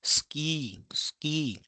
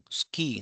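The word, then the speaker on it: スキー: We do not pronounce it as sue but ski. So the vowel has been devoiced.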